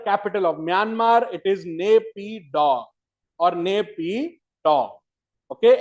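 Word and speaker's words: Naypyitaw: It is Napa or Nap.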